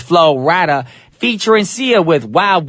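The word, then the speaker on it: Flo Rida: this man's name because they think his name is Florida no his name is florada featur and SE with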